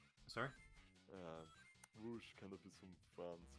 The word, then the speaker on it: Rouge: Yeah, Rouge. Rouge the Bat. Okay. Not Rogue, as other people have mispronounced.